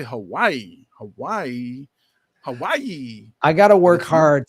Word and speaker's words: Hawaii: And it's spelled EWA, and the W in Hawaiian is pronounced with a V. So the actual traditional pronunciation of Hawaii is Hawaii.